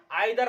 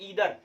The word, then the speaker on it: either: Even लगाइएगा या तो आइदर लगाए, याद रखना आइदर या तो ईदर, दोनों एक ही प्रोनाउंसिएशन इसका होता है, याद रखना इस चीज को।